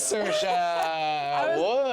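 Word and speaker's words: Saoirse: How would you pronounce this? Is it Cersa? It is Cersa.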